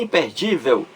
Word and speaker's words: imperdível: graficamente aí porque é uma palavra paroxítona terminada em L é a sílaba mais forte a penúltima de impedir imperd Vel entendeu então é imperdível leva acento gráfico por